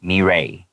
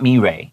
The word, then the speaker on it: Mirai: They're like, it's not mirai, it's mirai.